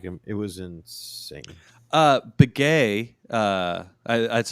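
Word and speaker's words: Beghe: Begay, that's how I have always heard it pronounced.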